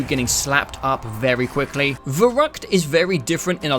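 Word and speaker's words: Verrückt: This one is actually pronounced Verruckt, I think.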